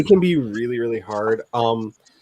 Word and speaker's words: Sonix: Sonics, I think is how it's pronounced.